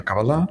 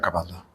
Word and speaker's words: Cábala: hablaba en hebreo decía cabalá, pero cuando hablaba en alemán decía cabala.